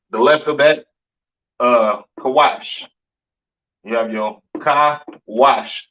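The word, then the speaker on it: כוש: kushites you understand uh pronounced kawash in the Hebrew Syrian spelling over here to the right kaash the Kawa and sha characters syan spelling excuse me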